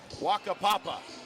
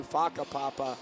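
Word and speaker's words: whakapapa: Waka Papa. Yeah. What is that? That would be cool if that's how you pronounce it. How do you pronounce it? It's actually Faka Papa.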